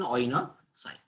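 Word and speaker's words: coenocyte: Oinocytics. C is silent, we call it as an oinocyte.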